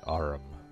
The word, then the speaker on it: arm: an arm your honor he pronounced it arum an arm mucus who